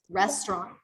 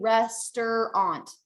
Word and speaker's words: restaurant: understand um i asked how many syllables does restaurant have when i say it best that's right so when we say this word we don't want to say rester aunt that's not right we want to say